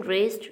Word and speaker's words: wrist: In wrist, W is the silent letter.